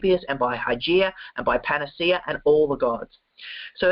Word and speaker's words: Panacea: of the healing process this one's hard to pronounce igly not ugly igly eagly uh the goddess of good health and Panacea or panaka goddess of universal remedy so the original hypocritic